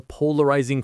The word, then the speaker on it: polarizing: A political leader can be a polarizing figure. It's anything that causes strong disagreement. That's the perfect definition. Let's check the pronunciation. Polarising. Polarizing. The stress is on the first syllable.